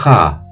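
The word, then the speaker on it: خ: Et la troisième, c'est la lettre kha, kha. En fait, c'est une tension au niveau du palais. Ça fait kha.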